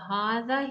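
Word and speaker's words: هٰذا: You can see the hadha here and a small alif saghira. That means we need to pronounce as hadha.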